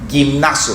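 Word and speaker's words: γυμνάζω: Gimnazio se pronuncia en griego, de donde viene la palabra gimnasio.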